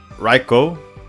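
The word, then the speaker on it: Raichu: The Japanese pronunciation for Reichu is Reicho.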